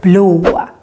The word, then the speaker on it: blå: And å has also a tendency to become long if it is in the end of a word. For example, in the word blå, blue.